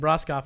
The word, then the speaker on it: Broskoff: I used to say it wrong, Broskoff, but I'm saying Broskoff now because I'm saying it right.